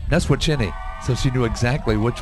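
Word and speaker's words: Neswiacheny: Well, it's spelled N-E-S-W-I-A-C-H-E-N-Y. Yeah, that I in there throws you off.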